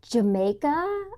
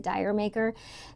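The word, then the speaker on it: D'yer Mak'er: supposed to be it's supposed to be pronounced Jamaica or I guess it was like a pun or something like that. Led Zeppelin was trying to be funny, but everybody I think everybody pronounces it dire maker.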